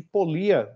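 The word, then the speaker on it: Pólya: chamado George polya né outras pessoas também é pronuncia o nome dele de polia né Ele viveu entre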